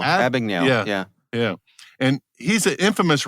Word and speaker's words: Abagnale: Abagnale. Abagnale.